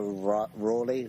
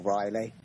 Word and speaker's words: Raleigh: So, people like Sir Walter Raleigh, or Riley, there's arguments about how you pronounce that, and someone called Edmund Spenser.